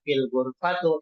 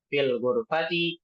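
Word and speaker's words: في الغرفة: Tidak boleh membaca fil gurfatu. Tidak bolehamu fil matbaku alal maktabu alariru. Ini keliru. Yang tepat adalah fil gurfati fil hamami filb alal maktabi alariri.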